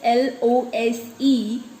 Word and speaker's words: lose: The answer is L-O-S-E, lose. And it is pronounced as Z with an Z sound.